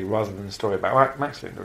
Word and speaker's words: Max Linder: I keep calling him Max Linder, but of course course, it's more properly pronounced Max Linder.